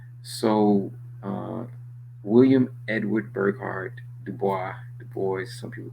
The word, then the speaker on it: Du Bois: Some people say W.B. Du Bois, right? French um, pronunciation. So, uh, William Edward Burghardt Du Bois, some people call him,